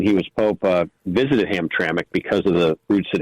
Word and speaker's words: Hamtramck: you so what's your thought about what mayor hamrak said in this controversy with President Trump yeah thank you it's actually pronounced Hamtramck and uh historically was a uh yeah historically